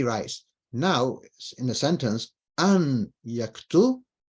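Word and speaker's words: أن يكتبَ: So if you wrote an yaktubu, it's wrong. You've written it wrong. I know what you're saying, but you've written it wrong. You've said it wrong. It's an yaktuba, right?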